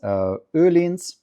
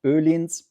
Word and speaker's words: Öhlins: Hidden down here is Öhlins. That's how it's pronounced. Öhlins.